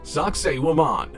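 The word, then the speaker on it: Sacsayhuamán: On the northern outskirts of the city of Cusco in Peru lies the walled complex of, and I will pronounce this wrong so get over it, Sacsayhuaman.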